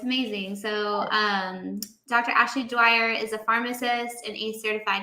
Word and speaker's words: Dwyer: Dwyer.